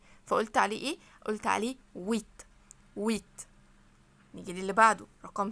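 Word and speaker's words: huit: سات طب رقم مانيه اسمه ويت ويت خليت اخدت بالكم ان الاش برضو مش منطوقه هنا ايه دي كده متحركه ان القش هنا حرف حرف فوايل فقلت عليه ايه قلت عليه ويت ويت جيجي للي بعده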